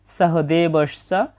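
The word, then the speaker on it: সহদেবঃ: মত উচ্চারণ হয় নকুলাহ এরপর আছে সহ দেবস এটা বাংলা উচ্চারণের মতোই তবে দন্তস এর উচ্চারণটা ছ এর মত হবে সহ দেবস চা প্রথম চরণের উচ্চারণটা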